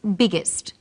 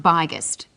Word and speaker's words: biggest: extra G that's right the extra G tells us that the word is pronounced biggest and not byest what's another example hot